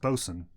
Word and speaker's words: boatswain: But it's pronounced bosun. That's spelled boatswain? The word boatswain is pronounced bosun, as in bosun's pipe.